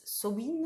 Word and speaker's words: Samhain: fête nationale et que le nom gaélique que l'on prononce so in on voudrait dire fin